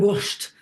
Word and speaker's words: Wurscht: And depending on how you pronounce it, like if you're really wanting to put emphasis on it, then it's not das ist mir Wurst. Then it's das ist mir Wurscht.